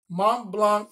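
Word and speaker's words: Montblanc: and that oh this is the sick part Mont Blanc is our partner Mont Blanc is custom making I gotta call I gotta say it right they're not ink pens writing instruments mon Blanc is designing and custom making flank blow slank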